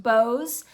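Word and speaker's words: Boz: boss so Dickens took the pseudoname BOS or sometimes pronounced Bose from a nickname that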